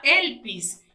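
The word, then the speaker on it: ἐλπίς: donde se enseña que se pronuncia elpis bajo la derivación primitiva conocida como elpo, que significa esperar con anhelo, por lo general con placer.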